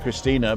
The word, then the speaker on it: Christine: As I say, Christina, I call her Christina because the Germans pronounce the E, but it's actually spelled Christine.